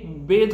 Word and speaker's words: bathe: বাথ, BATHE। দে বেদ হবে উচ্চারণটা, দে বেদ ইন দ্য morning, তারা সকালে স্নান করে।